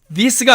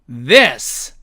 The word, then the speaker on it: this: 자, 이것도 this가 아니고 this 이렇게 읽어야 된다는 얘기입니다.